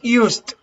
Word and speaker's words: used: lotion when you pronounce used u-s-e-d because it should be written in past tense i used okay the pronunciation is like a final t i used some lotion